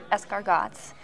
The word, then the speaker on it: escargots: You pronounce it escargots.